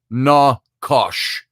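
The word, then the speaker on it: נחש: The Hebrew word for the book of Genesis, for the word snake, which you and I have all talked about before, is nakash, pronounced na-kosh.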